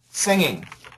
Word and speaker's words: singing: okay say this uh singing uh singing you got that g now some people do keep the G right now you're keeping the G okay some people do